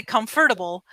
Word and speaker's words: comfortable: And sometimes there's words, for example, the word comfortable, when you read it, it's comfortable. People say comfortable, but we say comfortable. Instead of saying four syllables, we say three syllables.